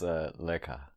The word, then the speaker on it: Leka: Her name's pronounced Leka.